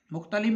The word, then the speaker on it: مختلف: بعد لفظ ہے مختلف۔ مختلف میں پہلا مضموم، دوسرا ساکن، تیسرا مفتوح، چوتھا مکسور، پانچواں بھی ساکن۔ جیسے مختلف کے وزن